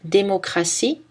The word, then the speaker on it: démocratie: X dans les mots 6, 10, 60 et TI dans certains mots qui en anglais se prononcent avec S ou CH. Par exemple, démocratie, en anglais democracy, essentiel, en anglais essential, initial, en anglais initial.